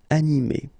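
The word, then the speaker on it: animée: So phonetically, you will get exactly the same form. So masculine form, animé, and then a feminine form, animé.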